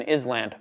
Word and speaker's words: island: Empty letters are never pronounced like the S in is land. Oh, it's pronounced island.